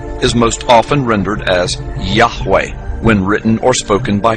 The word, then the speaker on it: Yahweh: most often rendered as Yahweh when written or spoken by Christians and others it is still never pronounced aloud by Orthodox Jews the pronunciation Jehovah is an older less accurate rendition of these letters it originated with the